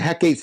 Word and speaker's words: Hecate: So Hec of Greece can also be pronounced Hecate. I've heard that both ways.